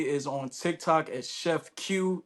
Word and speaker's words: Que: The best way to reach me is on TikTok as Chef Q, and Q is spelled QUE. It's not Chef Quay or Chef Gay. It is Chef Q.